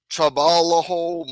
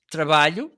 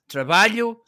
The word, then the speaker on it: trabalho: Trabalho means work. And when you see together the L and the H, it sounds like y.